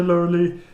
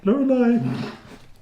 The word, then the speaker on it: Lorelei: You really have a wonderful collection here, Laurelie. Sorry, I don't think I'll be able to buy anything. Lorelei. I just made that clear. Yep. I don't like it when people get my name wrong.